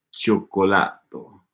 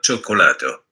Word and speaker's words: cioccolato: Al cioccolato. Cioccolato. Cioccolato. Cioccolato. So that I is silent there too. Gotcha. Io mangio. There's a silent I in mangio and a silent I in cioccolato.